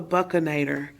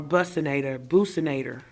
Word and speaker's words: buccinator: You can barely see it, but it's called the buccinator, or buccinator, however you wish to pronounce it, and it compresses the cheek.